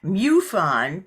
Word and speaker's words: MUFON: of North California muffon which she pronounces mufon because it stands for Mutual UFO Network and she is here